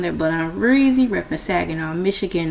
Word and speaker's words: Saginaw: Pronounced like LA, like the city. I'm not from there, but I'm Reezy, repping Saginaw, Michigan, not Saginaw, Texas.